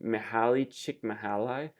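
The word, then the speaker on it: Mihály Csíkszentmihályi: His name I think is pronounced Mihaly Csikszentmihalyi.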